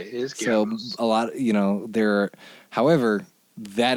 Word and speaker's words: Goebbels: And so it's like the name that most Americans mispronounce as Goebbels, right? It's not how you say it. Right. It's spelled in Romanized English. It's G-O-E, BB whatever. The O-E means that originally it was one character, which was an O with an umlaut, and that's Goebbels, right?